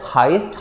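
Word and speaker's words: heist: है हाईएस्ट के स्पेलिंग कुछ लोग तो उसको हिस्ट बुलेट हैं तो राइट प्रनंसीएशन है हाईएस्ट हाईएस्ट होती है चोरी ठीक है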